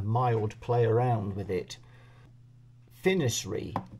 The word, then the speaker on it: FNIRSI: play around with it finy I think is how that's pronounced on there f n i r s i finy I think but anyway